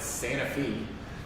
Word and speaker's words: Santa Fe: He grew up in Columbia, Tennessee, or outside Columbia, Tennessee, a little town called, they pronounce it Santa Fe, but it's spelled like Santa Fe, New Mexico.